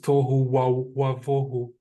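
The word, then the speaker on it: tohu wabohu: This is very interesting because in Hebrew, Tohu vavohu in the Ashkenazi pronunciation, but in the biblical pronunciation is Tohu wavohu.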